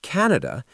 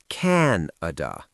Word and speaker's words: Canada: And for Canada, pay attention to the stress. It's usually stressed on the first syllable. Canada, not Canada. The vowel sounds are often short and clear.